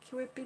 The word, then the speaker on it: Kewpie: these old vintage King whippy dolls I never pronounced that right ke w quippy quit p dolls Kewpie dolls i get it mixed up with the